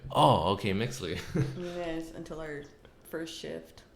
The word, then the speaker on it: Mixtli: yeah, I was like, what the fuck is a Mixley? Am I saying it right?